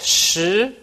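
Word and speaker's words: 十: one horizontal and a one vertical so it's pronounced shi for number 10 and e is just one simple horizontal stroke and it's pronounced e so e for number 11.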